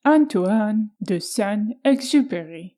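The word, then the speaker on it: Antoine de Saint-Exupéry: Little Prince written by antoan the son exu there was my attempt for the right French pronunciation so The Little Prince tamed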